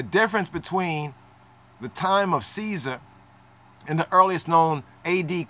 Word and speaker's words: Caesar: have nine copies but 10 copies how about Kaiser let's touch on Kaiser or Kazar let's touch on Caesar right as they say it nowadays in the